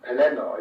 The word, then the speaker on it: Pelennor: Similarly with the long N's in names like Morannon, Pelennor, where I think that Morannon, Pelennor is certainly acceptable and probably best.